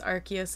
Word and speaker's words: Arceus: archus Legends I guess it's been officially confirmed it's archus and I've been saying it wrong um we've been getting